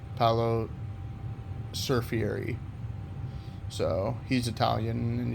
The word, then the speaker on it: Paolo: Yeah, that's how you say his name, Paolo Surfieri.